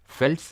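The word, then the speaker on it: veld: देते हैं, prairies, steppes, फेल्ट्स, इनको फेल्ट प्रोनाउंस करते हैं, वेल्ड नहीं बोलते हैं, ठीक है, लेकिन प्रोनाउंस करने के लिए थोड़ी ना आएगा।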